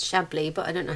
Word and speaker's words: Chablis: this french wine glad chablis shabbly it's shabbly but i don't know